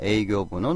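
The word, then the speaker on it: 営業: 자, 우리 영업 해주면 에이교 연음 해줘야 됩니다. 에이교 니오리가 땡땡 붙어요. 근데 만약에 에이쿄 세게 발음을 해주면 영향이란 뜻이 있습니다. 큰 영향이 있었습니다. 해주면 오키나 에이쿄가 아리마시다. 에이쿄하고 세게 발음을 해주면 영업 해주면 에이교 이렇게 해주니까 요거 발음 조심해 주셔야 되고요.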